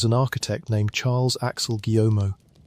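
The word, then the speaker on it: Guillaumot: The man chosen to lead this work was an architect named Charles Axel Guiomo. We will say his name softly, the way the French would, something close to Guyomo.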